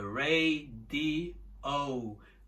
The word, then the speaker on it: radio: Em inglês são 3. É radio, radio. 3 sílabas, tá bom?